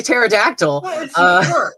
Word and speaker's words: pterodactyl: not allowed to stay pterodactyl sure it's fine i like their their stupid little hands and i like the silent p okay i'll i'll get